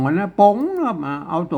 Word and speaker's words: ป๋ง: ครับ อ่า ตัว นี้ อ่าน ว่า โป่ง ไม่ ใช่ ปง คน ทั่ว ไป มัน อ่าน ว่า ปง เนี่ย มัน บ่ ได้ แล้ว อ่าน ว่า ป๋ง ครับ มา อ่าน